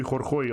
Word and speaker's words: Khorkhoi: So yeah, the old guy Khorkhoi also have, which is, in case you're wondering, this is how you pronounce it. I'm not, it's a Mongolian word, because of course the